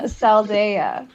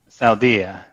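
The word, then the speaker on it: Saldaea: Pronounce this. Saldia. Oh my goodness gracious. It sounds so different saying it out loud than in my Goodness gracious. Pick a side, Kay. Saldea. Okay. Saldia.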